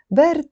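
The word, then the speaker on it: برد: Bard means cold. That's the pronunciation, bard.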